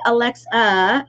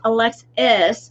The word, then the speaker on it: Alexis: I said her name wrong here. I put Alexa, and it's Alexis, and so at least you know Helene, and you can say Alexis with I-S rather than the A.